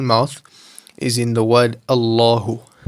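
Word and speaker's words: الله: So the only time you'll ever pronounce a lam with a full mouth is in the word Allahu.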